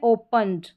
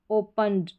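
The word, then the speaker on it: opened: ये है ओपनड, ओपनड, ड साउंड है, हिंदी में देख सकते हैं प्रोनाउंसिएशन।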